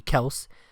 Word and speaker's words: Kelce: Their opening touchdown came from a classic Mahomes to Travis Kelce, unless you want to pronounce it correctly, Kels.